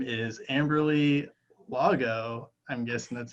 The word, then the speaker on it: Amberley Lago: And her name is Amberley Lago. I'm guessing that's how you pronounce the last name.